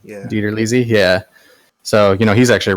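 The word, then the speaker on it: DiTerlizzi: Tony Ditterlizzi? Ditterlizzi, yeah.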